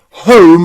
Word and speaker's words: home: So, any word that you see with O-N-E or O-M-E usually means that magic E at the end has changed the O pronunciation to O, from O to O.